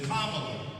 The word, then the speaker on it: Kamala: Vice President, soon to be President-elect Kamala Harris, and it's Kamala, like a comma.